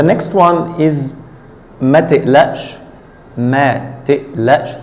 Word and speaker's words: ما تقلقش: ما تقلقش. Here the qaf is pronounced like hamza, as usual in the Egyptian dialect.